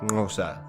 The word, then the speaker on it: Xhosa: Hence Xhosa is usually pronounced something like Xhosa.